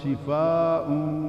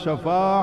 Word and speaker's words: شفا: کنارے کو کہتے ہیں، صحیح تلفظ ہے شفا، سین دے تھلے زیر، من القرآن ما ہوا شفاء ورحمت للمؤمنین، اور وَكُنْتُمْ عَلَى شَفَا حُفْرَةٍ مِّنَ النَّارِ۔ شفا